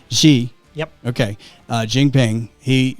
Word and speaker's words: Xi: reading about chinese president she pronounce it let me turn you on there yeah president xi okay she yep okay uh jingping